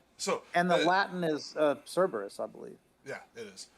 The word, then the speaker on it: Cerberus: how he spelled it classical Latin also uses a hard k sound uh Kus yeah but it then Yeah well yeah cobas um and then in the English we do Cerberus which I hate because we converted a